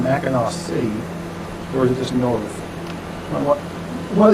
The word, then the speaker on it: Mackinac: thing yeah because it's mackinaw city right with a w at the end but then mac and neck with the scene here i guess it still pronounced mackinac but this really